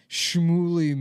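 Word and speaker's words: Shlomo: Schlommo is the best one. I remember the day. I love Schlommo, dude. It's so disgusting. It sounds like you're throwing it. First of all, it rhymes with homo.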